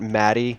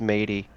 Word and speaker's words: Maddie: when you were AFK, they spent 10 minutes telling me that Maddie is pronounced Matey.